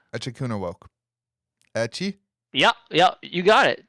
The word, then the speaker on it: Echikunwoke: pronounce it. Echikuna woke.